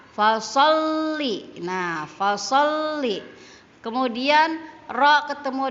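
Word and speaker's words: فَصَلِّ: Jadi fasol kan kalau tidak ada tasdidnya maka kita akan membacanya faso. tetapi karena ada tasdid di lam, di atas lamnya, maka so-nya itu mengikuti huruf lamnya. Jadi fasolli.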